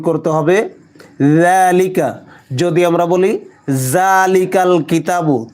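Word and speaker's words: ذَٰلِكَ: ওয়াজিব গুন্নাও হবে কিতাবুলাবা জালিকা জাল নরম করে উচ্চারণ করতে হবে জালিকা যদি আমরা বলি জালিকাল কিতাবু তাহলে ভুল হবে জিহ্বার আগা সামনের উপরের দুই দাঁতের আগার সঙ্গে লাগিয়ে নরম করে উচ্চারণ করতে হবে কিতাবু জালের উপর খাড়া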